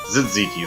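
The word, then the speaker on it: tzatziki: Zitziki, that's how you say it.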